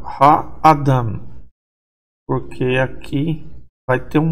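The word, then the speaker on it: האדם: Então, Ha-Adam, mesmo que a tônica está no final, o meteg indica que não é para pronunciar O.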